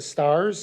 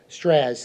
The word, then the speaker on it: Straz: He's currently right now at Moulin Rouge at the Stars Center is that how you say it? Moulin Rouge at the Moulin Rouge at the Stas Center. Straz, thank you.